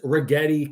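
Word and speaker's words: Rigetti: at the three leaders rhymes with spaghetti. I talked about this yesterday on spaces 2. Number one stock in the market year-over-year is Regetti Computing.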